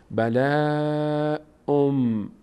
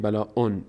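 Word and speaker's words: بَلَاءٌ مِّن: تلفظ میشه میشه چی بلا ام ام ام ام به جای این نون شما واو تلفظ کنید نگید بلا اون بگیم بلا ام میم تلفظ میشه بلا ام دوباره بعد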